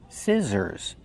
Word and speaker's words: scissors: We use the short is sound like this is scissors. The middle consonant is the z sound, like zebra. Make the voice.